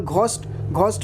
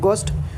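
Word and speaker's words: ghost: For example घोस्ट में घोस्ट नहीं है गोस्ट, तो यहाँ पे जी एच साइलेंट है।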